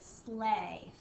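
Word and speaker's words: sleigh: going to practice is Slay Slay S A and this is a tricky word because it sounds like an a sound but there's no a in the word at all okay the word slay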